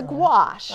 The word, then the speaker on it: gouache: Guache, I think. Okay. There might even be an O in there somewhere. Oh, gouache. But it's gouache.